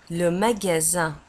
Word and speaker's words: magasin: Le magasin. Un magasin. Le magasin. Un magasin. ومagasin تكتب في آخر الكلمة بS I N وتنطق زن، يعني S تنطق مثل الزد.